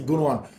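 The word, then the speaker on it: Gündoğan: I mean, a lot of people who pronounce it the Turkish German way say Gunwan.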